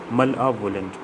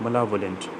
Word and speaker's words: malevolent: Pronunciation is malevolent, malevolent, malevolent. Imagine a violent male. Look at the word malevolent. It is composed of, it looks like it's composed of two words, male and violent.